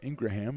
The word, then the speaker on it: Ingram: of uh Eagle Idaho PA announcer Matt pronounces the name Ingraham and I look at it again and that's probably the way you're supposed to do it that's why he